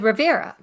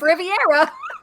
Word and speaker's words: Rivera: say his name and she said rivera and i said okay just making sure you know how to say his name and then she says steve riviera not once but twice okay it's